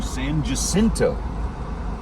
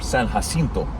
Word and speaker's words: San Jacinto: I'm turning right onto San Jacinto, or San Jacinto, if you want to pronounce it correctly. If Texas had lost their Texas Revolution, then we'd call it San Jacinto.